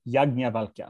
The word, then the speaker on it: Yajnavalkya: Yajnavalka? It looks like a yaj, doesn't it? Yajnavalka. Right. The transliteration is weird because it is technically a conjunct of the aspirated ja, but it is pronounced Yajnavalka.